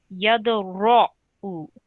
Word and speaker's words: يدرأ: Now, be mindful that this ra here, ra with a fatha or an r sound, is a thick letter. So it needs to be pronounced with a rounded mouth. Yadra'u.